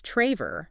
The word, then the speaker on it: Traver: It is pronounced with a long a sound. So, it's Traver. Traver, right?